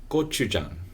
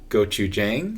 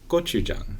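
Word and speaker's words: gochujang: and things like that and peim pup yes go Jang mhm not goou Jang i' I've heard people pronounce it correctly in a video in the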